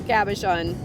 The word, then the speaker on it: cabochon: We might have to polish this and make it into a cabochon.